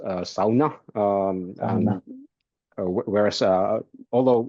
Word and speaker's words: sauna: in the Finish language uh this word is pronounced SAA um and whereas uh although it's the one word from Finnish language that's known all over the world and I think most English speakers will just say Sona I don't really mind which way you put